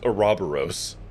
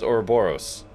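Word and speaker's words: ouroboros: that's how it's pronounced there's no way it's pronounced aerobaros absolutely not I I refuse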